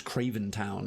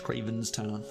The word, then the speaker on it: Krayven's town: Because people keep mispronouncing Krayven's town as Krayven town. It's like, no, there's an S in there. It's Krayven's town.